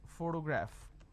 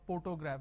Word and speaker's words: photograph: in the end so wherever you see the letter p you will have a per sound but there is an exception for example if it's if the word is photograph so here even though the we have the letter per but it's not a photograph we don't say photograph we say photograph because we have pH okay now next one